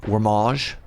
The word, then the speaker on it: Wormage: Wormage, but pronounced like it's French. Wormage.